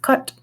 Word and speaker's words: Cait: That's how you pronounce that because the word Cait, C-A-I-T, also in Irish means cats. It's pronounced cut.